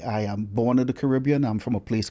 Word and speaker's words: Caribbean: So therefore we are the Caribbean people. That's why that pronunciation is used there. In North America, they say Caribbean because it's B-E-A-N.